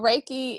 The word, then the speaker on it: Reiki: Ah, you're a Reiki practitioner. Let's Yes. explain this to the people. Yes. So Reiki is this universal life energy that we all have access to.